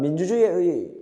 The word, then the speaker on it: 민주주의의: 그다음 민주주의의 원칙은 자, 허용하겠습니다. 자, 이음절 이상이죠. 이로 발음할 수 있다.